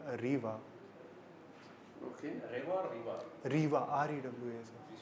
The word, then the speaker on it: Rewa: Rewa, R-E-W-A, sir. Please spell it.